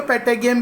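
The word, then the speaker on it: patagium: बैट फ्लाई कर सकता है विद द हेल्प ऑफ, अब कुछ टीचर्स को पेटेगियम भी प्रोनाउंस करते हैं, तो don't harass me for pronunciation. It's पेटागियम और पेटाजियम, जैसा तुम्हें चाहिए यू कैन प्रोनाउंस.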